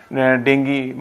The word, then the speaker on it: डेंगी: Season में होता है डेंगू, तो वो कब और कैसे होता है? तरन्नुम जी, देखिए, डेंगी, इसका जो सही प्रोनाउंसिएशन है वो डेंगी है।